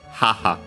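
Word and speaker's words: 母: would use the term haha uh should be accent on the first syllable, but it's sec.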